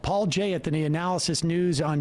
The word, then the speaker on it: Paul Jay: is good too but paul jay rhymes with cia so and i mean